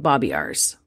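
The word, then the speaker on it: Babiarz: so enter John babiars I think that's how you say his name it's b-a-b-i-a-r-z so I'm gonna call him Bobby ours sure moving forward okay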